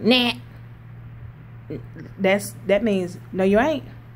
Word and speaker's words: NANT: And you say like, nah.